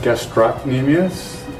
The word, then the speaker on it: Gastrocnemius: I'm your host, Gastrocnemius, and my guest is a man named Mr. Leary. It's pronounced Gastrocnemius, and my name is pronounced.